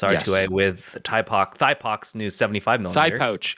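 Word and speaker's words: Thypoch: Thigh pouch. It's pronounced thigh pouch lenses.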